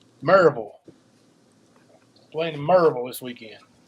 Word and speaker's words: Maryville: It's sort of like saying Louisville, Maryville. You got that pull to it, that draw, I guess.